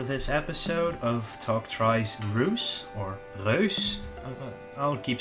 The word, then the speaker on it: Reus: It's called Reus, or it's a Dutch. It's made by a Dutch developer called Abbey Games, and Reus means giant, and it's supposed to be pronounced Reus.